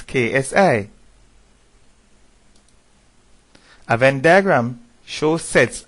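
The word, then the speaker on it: xi: so that symbol is the common Greek letter as we would pronounce KSI a Venn diagram shows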